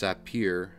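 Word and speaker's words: סַפִּיר: The Hebrew word sapphire, pronounced sapir, can either be translated as sapphire or lapis lazuli.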